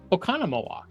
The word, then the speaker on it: Oconomowoc: How do you actually pronounce that? Oconomowoc.